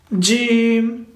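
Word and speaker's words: جيم: When it touches the hard palate, we pronounce Jim, Sha, and Ya. So the first one is Jim, Jim, Jim.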